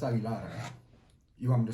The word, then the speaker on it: Aguilar: Yeah, it's Aguilar. You want me to spell that for you?